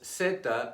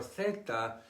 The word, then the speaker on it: zeta: The Spanish word for this letter is zeta or theta in Castilian Spanish.